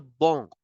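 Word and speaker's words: banc: bench simply as Le bong C in the end is for decoration you don't have to make any sound of c and you know the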